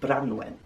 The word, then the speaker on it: Branwen: gay duran bendigate flan and his marvellous sister branwen bran wen branwen and let's not forget their father here